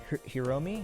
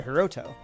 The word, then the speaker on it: Hiroto: I should say her bringing in Hiromi, is that how you say his name? No, sorry, Hiroto. Way off.